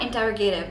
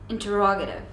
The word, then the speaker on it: interrogative: you said interrogative okay now it's not interrogative neither in British English nor in American English it's interrogative now here's the trait